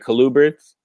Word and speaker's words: colubrids: So what other things do you keep besides your gargoyles, your crested, your boas, and your colubrids? Did I say it right? Colubrids?